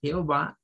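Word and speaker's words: Jehovah: IPN nos dice que esta J se pronuncia con un sonido que es como el sonido un poco vibrante y luego Esta debe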